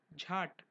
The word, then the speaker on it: jhat: Note that this word is different from word jhad, which means tree. Pronunciation of this word is jhat.